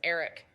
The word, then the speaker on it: Aric: Also, Almirola's first name is pronounced as Aric.